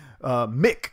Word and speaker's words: Mick: with this initiative says Mick not mike it's Mick Mulvaney I'm